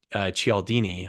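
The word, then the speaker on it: Cialdini: it was Robert B chalini I think is how you pronounce it like chiao um he told this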